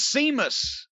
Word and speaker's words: Sheamus: will not be there and then here comes seamus and he grabs aj now seamus is why